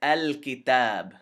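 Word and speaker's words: الكتاب: of the calf is far away and it's al-kitab al-kitab same thing but different this is this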